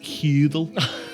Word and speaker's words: Hurdle: This is the legendary Hurdle box, making all its way from Esheim. I got this, Siggy. Don't worry. It's pronounced Hudel.